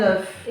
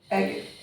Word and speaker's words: œuf: Un œuf. Manger. Manger. On avait déjà mangé ici. Oui. Un œuf. Tu comprends ? Un œuf. EG. Pas eg.